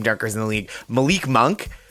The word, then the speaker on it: Monk: Malik Monk, whose name rhymes with dunk, as has been pointed out, I think on the No Dunks podcast, he's a real terrific dunker.